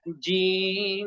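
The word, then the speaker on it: ج: যা দুই নাম্বার ঘর জিহ্বার মাঝখান থেকে শক্ত করে মাঝখানে বরাবর উপরের তালুর সঙ্গে লাগিয়ে খুব সুন্দর করে শক্ত করে শক্তভাবে উচ্চারণ করতে হবে জিম জির জি যুক্ত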